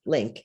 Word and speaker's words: LIINC: That's LINC with 2 I's, pronounced LINC study, one of the first COVID recovery studies in the US.